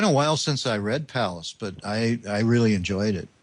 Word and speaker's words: Pallas: Neil Smith book, Pallas. Is that how you pronounce the asteroid's name? Yes, I believe so. Pallas.